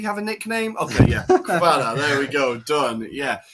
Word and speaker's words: Kvara: I had a Georgian student at summer camp, and he said they just say Kvara. So they just call him Kvara.